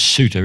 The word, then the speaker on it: Souter: Paraguay, by a man, I pronounce his name as Souter, S-O-U-T-E-R.